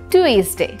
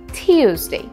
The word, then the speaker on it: Tuesday: সেটি হচ্ছে টিউজডে মঙ্গলবার আমরা সবাই এটাকে বলে থাকি টুইজডে যেটা কিনা ভুল এর কারেক্ট প্রোনাউন্সিয়েশন ইজ টিউজডে যেমন আমরা বলতে পারি ডু you available on টিউজডে অথবা বলতে পারি আই U coming on this টিউজডে আমরা বলবো না টুইজডে এবং যখনই আমরা ডে